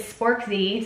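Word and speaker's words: Sporkzee: music this year amazing his artist name is sporkzy spork z-e-e that's how it's pronounced and he just recently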